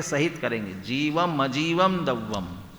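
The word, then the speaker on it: जीवमजीवं: जीवम जीवम दव्वम, म पूरा है, माने जीवम अजीवम दव्वम, जीव और अजीव।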